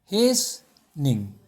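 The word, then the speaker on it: hastening: The pronunciation is देखिए क्या है, हेसनिंग, ये फोनेटिक ट्रांसक्रिप्शन है, हो जाएगा, यहाँ पे ये एक्सेंट है हेसनिंग।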